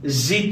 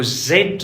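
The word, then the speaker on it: Z: قدرمنو سکونکو اوس راځو زی ته. برطانویان دغه توري ته چې دی درنو سکونکو زد وایي. زد امریکایان ورته وایي زی. تاسې هر یو تلفظ کوئ درسته دی.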